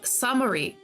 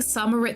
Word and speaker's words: Summerit: The T is silent. Oh, Summery. My bad. I've been saying Summerit this whole time.